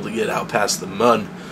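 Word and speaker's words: Mun: We may even be able to get out past the moon, or moon, or however you decide to pronounce the U in M-U-N.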